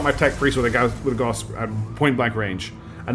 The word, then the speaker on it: Gauss: It's pronounced with the ooh. Gauss.